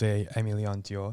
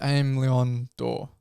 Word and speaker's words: Aimé Leon Dore: little people call it there's a few different ways people pronounce it that's how I pronounce it yeah I think it's am Leon door yeah there'd be like a great way to pronounce that yeah so so the the